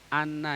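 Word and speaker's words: أنّ: Ini tadi bacanya yang benar anna ya bukan in. Anna anna syariah.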